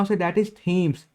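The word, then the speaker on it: Thames: बहुत ही सुंदर है ना उसे डेट इस थीम्स टी ह ए एम ए एस चलिए हम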